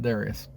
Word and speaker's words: Darius: avenge the defeat that his father Darius had, or Darius, however you pronounce that. Most people pronounce it Darius.